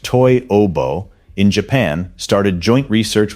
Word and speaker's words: Toyobo: Toyobo, pronounced Toyobo, in Japan started joint